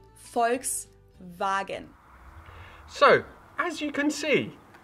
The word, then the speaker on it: Volkswagen: and not volkswagen so just imagine that it was spelled with an f and v instead folks wagon so as you can